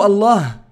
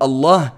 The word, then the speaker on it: Allah: que dans la prononciation, le lem du mot Allah est mufakhama, est grave. Et c'est le seul mot de la langue arabe où le lem est grave à la prononciation, est emphatique.